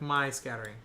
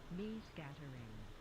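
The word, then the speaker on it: Mie scattering: PR pronounce my scattering how do you save this me no shot me it is me me scattering incredible me scattering okay so my scattering true but apparently it's me scattering which pretty sure y'all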